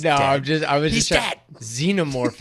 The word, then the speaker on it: Xenomorph: no just I Dead Xenomorph is how I would say it right yeah right because that's how we say xenophobic or xen ever right and I often